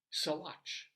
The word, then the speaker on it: Saguache: had no idea that it was pronounced this way it's s a g UA C H soat I don't think that's